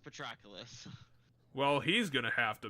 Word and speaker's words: Patroclus: ever going to say his name it is pronounced patroclus well he's gonna have to make that we